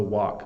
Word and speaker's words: walk: we have walk so I'm opening up a bit more to say an a sound so walk Walking is really nice